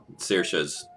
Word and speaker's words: Saoirse: Saoirse's probably closer to the traditional accuracy. I've heard it where they somehow simultaneously pronounce all of the vowels. Saoirse, yeah. Saoirse. Like, if it goes fast enough, it sounds like they said an A, an O, and an I all at the same time.